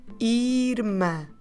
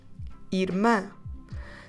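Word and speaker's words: irmã: nasal and we say Irma stress the last syllable make it nasal mouth open this time Irma so if you want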